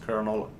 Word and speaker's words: colonel: there okay yeah Colonel yeah I know it's pronounced kernel just having fun hello Pharrell prods thank you